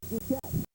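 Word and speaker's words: Dukiet: new head coach and his name rhymes with marquette it's bob duquette boston college graduate who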